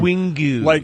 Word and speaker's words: Wingo: I want it like Wingu, like the Geaux. I am Wingo. Like it's spelled like the Louisiana Wingos.